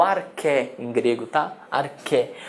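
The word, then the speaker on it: ἀρχή: O arché em grego, tá? Arché. Arché se escreve arché, mas não se lê axé. Não é o axé dos gregos, tá?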